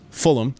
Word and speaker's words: Fulham: the London Derby versus Fulham which is how you say it not fullam yeah we're going to take